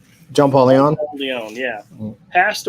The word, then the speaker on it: John Paul Leon: and what we're showing off, comic book artist Jean Paul Leon, am I saying it right? John Paul Leon?